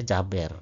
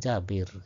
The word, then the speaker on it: Jabir: Kemudian Jaber dibaca banyak yang membacanya Jaber ya. Ali Jaber bukan Ali Jaber. Ali Jabir ya.